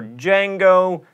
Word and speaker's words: Django: Aphthongs are silent letters in words like knife, or fight, or Django.